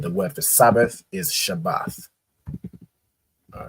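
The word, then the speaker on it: שבת: So it's pronounced Shabbath, right?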